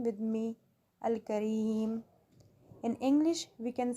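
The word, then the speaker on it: الكريم: Pronounce this name with me, Al-Kareem.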